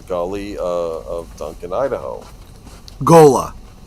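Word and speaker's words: Ghola: Gola Gola. That's how it's pronounced.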